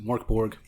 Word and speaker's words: Mörk Borg: system out of Sweden called mjor borgi most people will probably just pronounce it Mark Borg probably um I had